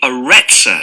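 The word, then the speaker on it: Arretsa: It's called the Retzor Center. That's spelled A-R-R-E-T-S-A.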